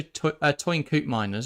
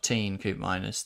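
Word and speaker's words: Teun Koopmeiners: So, Toyn Coop Miners, I think is how you pronounce his name, linked. Not Teen Coop Miners, the Dutch Atalanta guy, midfielder, used to be at AZ Alkmaar, very good player.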